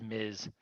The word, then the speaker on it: Ms: just a woman but ms is is is just short for miss his miz those are pronounced differently yes yes i'm gonna